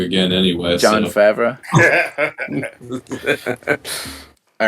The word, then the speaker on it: Favreau: name wrong again anyway. John so. Favreau.